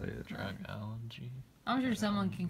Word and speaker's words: Dragalge: Dragalge? I don't know how to say it. Dragalge? I'm sure someone can correct this. Yeah. It's the Mott kelp, so it might be Dragalge, like algae.